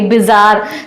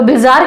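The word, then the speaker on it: bizarre: Pronounce करके देखा करिए, बा में क्या है? छोटी ई की मात्रा। ठीक है, यहाँ पर क्या है? बी, ये क्या हो जाएगा? बी, तो बीजार नहीं है, बिजार है।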